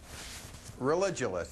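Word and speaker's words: Religulous: name of your movie it's religionist it's like you're saying religion and then you go to ridiculous for obvious reasons well speaking of which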